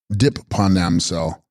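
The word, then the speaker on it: sGrib-pa rNam-sel: Text, Phag Na Ridorje, pronounced Chogna Dorje, bearing the Dorje in hand, Sanskrit Vajrapani, and text, Scrib Pa Ranamsel, pronounced Dip Panamsel, clear of obscurations, Sanskrit Dipani, also Dipika.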